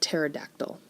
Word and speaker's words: pterodactyl: some other silent letters like the p in the word pterodactyl in greek p-t-e-r tur means wing we also see it in helicopter so if that p didn't exist in pterodactyl we wouldn't as clearly